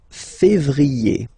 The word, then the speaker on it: février: Then comes février, okay? Remember when you have this accent aigu on the top of then you pronounce it e, okay?